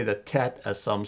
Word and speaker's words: Tet: In Paleo-Hebrew, the tet, as it's called, some pronounce it the tate, the 9th letter is a circle with an X through it, or contained in it.